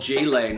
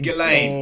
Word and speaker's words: Ghislaine: People are using I think we Wayfair were just getting to- onto old G-Lane, weren't we? Old G-Lane. Oh, Ghislaine. Ghislaine. Oh, And Ghislaine. just Pronounced Donald Ghislaine.